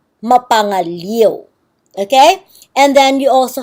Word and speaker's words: mapangaliw: oh, maybe it's pronounced mapangalio. So it's a little bit confusing nowadays when you see this. But at that time, when people saw I-O, they knew that that would be pronounced mapangaliw.